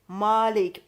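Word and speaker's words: مالك: the verse with alif, Malik. Only, Malik, yes. a long A with a dagger aleph that's added at later on. And that dagger aleph makes it owner.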